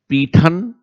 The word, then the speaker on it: पैठन: एक ही स्थान के कई नाम कई तरीके से उन्हें प्रोनाउंस किया जाता है।